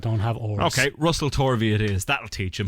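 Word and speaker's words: Tovey: I'm not sure no he's English it's it's torvi um it's not tvi Ben what there's no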